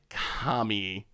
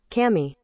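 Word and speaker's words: kami: happy here's eight second here's an eight second commie call that kind of sounds like i guess it's a little ah a little more ah e a little more eye than than amy all right um here's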